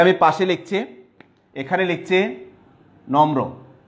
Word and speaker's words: নম্র: পাশে লিখছি, এখানে লিখছে নম্র, ময়ের সাথে রফলা যুক্ত হয়েছে, তাহলে ম কয়বার উচ্চারণ হবে? ম দুইবার উচ্চারণ হবে। ওকে, তাইলে ন ম একবার, তারপরে ম রফলা উকার, নম্র।